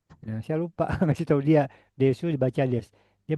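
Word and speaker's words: です: Desu dibaca des ya.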